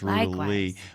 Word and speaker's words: Ruta Lee: That's Miss Ruta Lee, by the way.